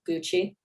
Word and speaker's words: g.ucy: Is it pronounced Gucci? g.ucy, the Gucci.